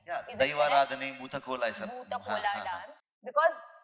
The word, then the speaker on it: Bhuta Kola: Am I pronouncing it right? Yeah, दैवाराधने Bhuta Kola ऐसा.